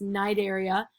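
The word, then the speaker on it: Cnidaria: classroom so the platyhelminthes these are like flatworms nigeria i know it starts at the sea but it's pronounced night area this is like jellyfish and coral moleska snails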